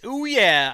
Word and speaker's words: OUYA: this time around about a Kickstarter project called oh yeah oh yeah it's spelled o u ya a but pronounced oh yeah a new kind of video game console I'm